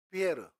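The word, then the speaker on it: Pierre: 말로도 있을 거 아니에요 피터 피터가 영어식 발음이며 프랑스 발음으로는 피에르 피에라 이름 되게 많이 나옵니다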